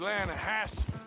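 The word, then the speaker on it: Lannahechee: other day I roll it down to the Lana Hetchy River I caught some beautiful steelhead trout you made in Atlanta no no the Lana hatch it runs right here here yeah but it's pronounced Lana Hass why is everything in English said differently than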